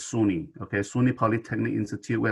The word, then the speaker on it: SUNY: we have two campuses state university of new york we basically just pronounce it as sunni okay suny polytechnic institute